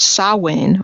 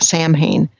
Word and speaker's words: Samhain: parallels like for example the word saw Wayne or you know it would be spelled to sound more like Samhain you know if we were going to pronounce anglicized there's a Simoni O's in